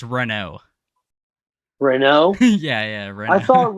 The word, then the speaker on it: Renault: before you start, I want to see if you pronounce his name right. Is it not Renault? That's close, but that's a What very is American. It's a very American way of saying it's Renault.